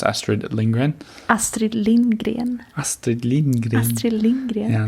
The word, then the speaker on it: Astrid Lindgren: Can you give the listeners a lesson on how to pronounce Astrid Lindgren? Astrid Lindgren.